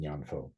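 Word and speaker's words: 念佛: In Japanese, it's pronounced Nembutsu, and in Mandarin, it's pronounced Nyanfo.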